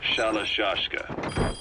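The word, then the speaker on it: Shalashaska: The guerrillas were using the name amongst themselves, and by the time I got to hearing about it, pronunciation had wound up as Shalashashka.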